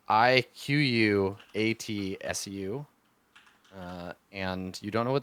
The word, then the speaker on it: Iquatsu: The bow's name is Ikatsu. It's Iquatsu, and you don't know what that word means, but that's the bow's name.